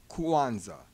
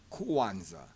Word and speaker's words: Kwanzaa: first fruits and it's it's a Swahili word meaning first fruits it's also the name